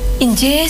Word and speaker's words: inggih: Kalau injih, yang sering diucapkan injih itu INGGIH. Inggih. Enggak pakai kalau E ya. Iya, enggak Kan ada injih. Iya. Ada yang I, ada yang E. Oh, yang benar adalah I semua ya.